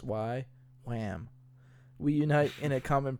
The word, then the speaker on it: YWAM: also known as y way m YW am pronounced y lamb we unite in a common purpose to know